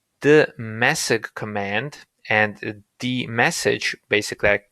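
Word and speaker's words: dmesg: message command and the message basically i read it as the message but it's spelled differently and that command is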